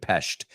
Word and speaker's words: Pest: They pronounce it Pest.